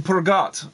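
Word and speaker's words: Peugeot: You don't pronounce the T in Pergot.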